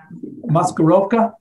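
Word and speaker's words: Maskirovka: that uh that is that is uh muskeroka it is the russian uh art of deception and premises uh how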